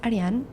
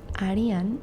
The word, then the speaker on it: Ariann: My name is Ariann. Ariann, not Arian.